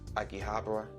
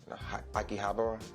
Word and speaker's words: Akihabara: this day which is Akihabara Akihabara yeah that's how you pronounce it again like a